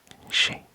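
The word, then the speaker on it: 四: number four brackets G so number four we pronounce it she as widely avoided in Japan since it sounds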